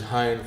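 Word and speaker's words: Hinde: My name is spelled H-I-N-D-E, 5 letters, H-I-N-D-E. The last E is silent.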